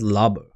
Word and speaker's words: Lobo: No, for some reason it says Lobo, but they pronounce it as Labo, right?